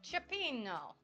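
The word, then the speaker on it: cioppino: can I find it in the chat Chapo chapeno there we go if i s like I'm an Italian it's going to sound right chapeno and apple fritters y'all San Francisco in the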